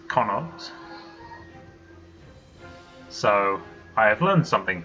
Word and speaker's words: Connacht: Apparently it's pronounced Connacht.